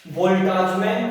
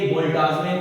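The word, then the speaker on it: Boltzmann: अब इसको हम बोल्टाजमैन कांस्टेंट के रूप में लेके चलते हैं।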